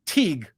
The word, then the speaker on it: Teague: It's pronounced Teague, but is fine.